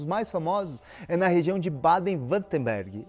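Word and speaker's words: Baden-Württemberg: os melhores relógios mais famosos na região de baden wutemberg é assim que deve se pronunciar enfim é uma região a alemanha que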